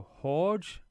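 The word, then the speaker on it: Jorge: It's pronounced like a h. So, horge as in like when you're saying Jose and that.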